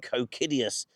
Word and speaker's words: Cocidius: So perhaps here we should call him Kiddius Silylvanas.